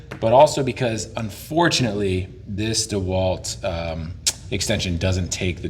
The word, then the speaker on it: DeWalt: in the front obviously I like how you pronounced it proper DeWalt not DeWalt oh boy I love that that makes me